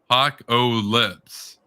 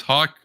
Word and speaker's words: Hawkopolis: Hawk-o-lips. No, that's not actually that. It's more complicated than that. It's Hawkopolis.